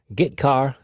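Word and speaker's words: getchar: character io functions are get car and put car that's how I pronounce them get car fetches a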